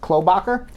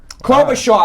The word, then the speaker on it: Klobuchar: was in Iowa surprisingly Amy Klobuchar my pronouncing her name right khlo Bakker she placed third clover Shaw I know I was wrong Amy Klobuchar placed third